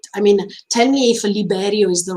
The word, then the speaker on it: Liberio: but usually in Japanese, when they put R as a sound at the beginning, is L. That means is Liberio in this case, if I'm not wrong, because many times even with Levi, usually they were saying at the beginning Rivi with the R, even if it was L. So that's why I think it's Liberio, not Riberio, but, but Japanese people